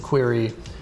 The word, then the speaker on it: Qri: and today i'd like to tell you about query we spell query qri we pronounce it query you can pronounce it however you want i'm